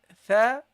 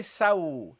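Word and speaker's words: ث: Okay, so your start should be tha, thou. Don't say saw. Don't say sa. This is not the scene. Okay, this is the tha.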